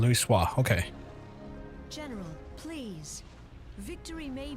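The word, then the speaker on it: Louisoix: That's her pronunciation, Louis Soir.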